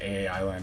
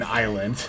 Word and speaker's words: island: course they they did end up getting another AI land or an island I keep thinking that's how it's pronounced instead of getting another Island out uh